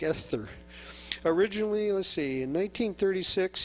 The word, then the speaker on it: Esther: How do you say that? E-S-T-H-E, Esther? It's got a T-H, like Esther.